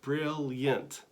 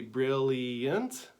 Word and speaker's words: brilliant: brilliant look at that brilliant that's an interesting word because it could be brilliant or brilliant so you can choose between a two-syllable word or a three-syllable word so it gives you